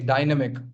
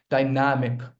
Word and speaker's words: dynamic: A lot of people mispronounce this word. They say dynamic. It's not dynamic, guys. It's dynamic. Dynamic.